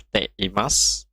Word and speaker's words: ています: adalah T Imas t.imasu tab ini dibacanya Teh Imas punya ini tidak dibaca kurang dibaca bentuk timah digunakan saat